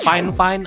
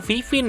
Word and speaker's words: FIFINE: Ya, mikrofonnya ini sendiri namanya adalah Finefine AM ya. Bacanya bukan Vivin ya, tapi Fine Fine.